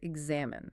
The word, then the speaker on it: examine: Oh, the trap here is placing the stress on the first syllable, right? Or ending with a long E. Exactly. The rhythmic stress falls heavily on the second syllable, X-A-M-I-N-E, and it finishes with a very short, clipped E sound.